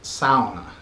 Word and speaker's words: sauna: and by the way always remember to pronounce it sound and not sawn I like I grew